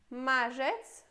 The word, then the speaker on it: marzec: Marzec.